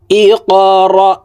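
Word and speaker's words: اقرأ: আপনারা আমার সঙ্গে কয়েকবার বললেই সূরাতুল আলাক মুখস্থ হয়ে যাবে এবং সহিহ শুদ্ধ উচ্চারণ হয়ে যাবে। ইকরা বিসমি।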